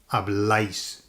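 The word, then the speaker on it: habláis: A tip if you're struggling for when you look at that word. Lots of people struggle with the pronunciation. They don't know how to do that last bit because it lots of vowels together. The word that you're going to use to remember is the word ice. Okay? IC in English because that's the sound on the end.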